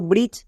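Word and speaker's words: bridge: silent তাহলে কি হলো বি আর আই ডি জি ই ব্রিজ এখানে ডি সাইলেন্ট আমরা মনে রাখবো কোন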